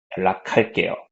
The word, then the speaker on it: 연락할게요: You see this K sound, right? 연락할게요. Okay. So make that K sound if you want to pronounce it better.